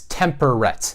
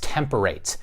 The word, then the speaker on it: temperate: typically pronounced temperate as temperate but in this rhyme scheme it is pronounced temperate it is called a slant rhyme sometimes the sound of the word will be adjusted to fit the rhyme scheme and it is up